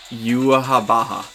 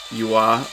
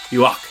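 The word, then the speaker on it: Yhwach: So, but if you took his furigana for his name literally, it would be like Yuahabaha, which is clearly not how his name is pronounced. It's actually a derivative of Yahweh, because he's an egotist and he's calling himself God essentially. But yeah, no, you're good with either Yua or Yuak.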